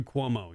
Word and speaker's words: Cuomo: You're in New York and you have Mayor Cuomo, or did I say his name right? Andrew Cuomo, yeah.